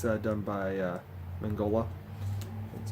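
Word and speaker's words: Mignola: It's done by Mangola. That's how you pronounce his name.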